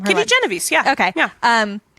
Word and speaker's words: Kitty Genovese: I forget how you pronounce her name. Kitty Genovese.